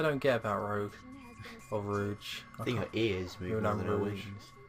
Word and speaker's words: Rouge: Right, so, yeah, so Rogue or Rouge. I'm going to call her Rouge. It's a bit easier to say. Yeah, and I think that is correct anyway, because they do say her name.